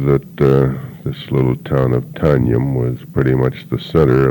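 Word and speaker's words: Tonjum: The name of the town is Tanjum, T-O-N-J-U-M, pronounced Tanjum.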